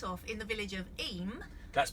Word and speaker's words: Eyam: and we start off in the village of e that's pronounced e not I am which is how we start pronouncing it at